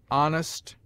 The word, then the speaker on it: honest: in which it is always sounded with a full breath except in air herb oler honor humble honest humor and their derivatives it sometimes begins middle